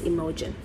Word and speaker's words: Imogen: I pronounce it as, you know how you say emoji? I pronounce her name as Imogen.